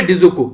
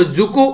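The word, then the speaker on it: Dzükou: इसी तरीके से जो यहां पर मैंने अभी आप लोगों को ये बोला मैंने डिजुकू, ठीक है, पर लेकिन यहां पर डी साइलेंट है, इसको जुकू वैली के नाम से आप लोग जानते हैं, ठीक है।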